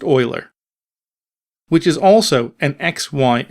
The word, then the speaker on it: Euler: rotation equals quaternion Euler and yes it is pronounced Euler which is also an XY and z value